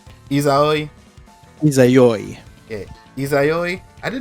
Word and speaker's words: Izayoi: Because I honestly didn't know Azoi, that's how you say her name? Izayoi.